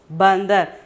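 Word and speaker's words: बंदर: Okay, ba, da, ra, but the pronunciation is bandar.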